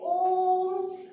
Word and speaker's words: ओम: जैसे ओम, इधर लिखा ओम, तो इसका हम उच्चारण बोलेंगे ओम, तो ये हो गया प्लुत स्वर। इसमें ह्रस्व स्वर और दीर्घ स्वर से भी ज्यादा समय लगता है, तिगुना समय लगता है।